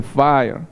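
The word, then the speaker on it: FHIR: el hl7 efe h&r o sea no es fire pero se dice fire y se escribe efe h&r por eso que hay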